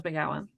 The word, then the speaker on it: McGowan: Rose McGowan.